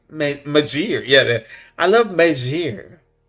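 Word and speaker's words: Meijer: I love Mayor. Majir.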